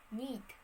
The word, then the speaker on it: knee: entirely disappeared also with the word knaved knaved kneet kneed knee knee where the consonant k or